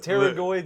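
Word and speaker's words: pterygoid: he's still baffled that teroid a muscle in the jaw start with a silent PE that is ridiculous hey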